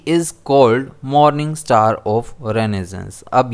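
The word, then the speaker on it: Renaissance: कई लोग इसे रेनेसा भी पढ़ते हैं जो कि गलत है। अगर हम प्रोनाउंसिएशन चेक करेंगे, चाहे अमेरिकन हो चाहे यूके प्रोनाउंसिएशन हो, तो इसे रेनेसेंस ही कहा जाता है। तो ये चीज़ हमारे लिए इम्पोर्टेंट है, ये रेनेसेंस है ना कि रेनेसा है।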